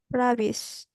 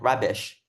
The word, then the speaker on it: rubbish: rabbits. There's supposed to be a sh at the end, rubbish.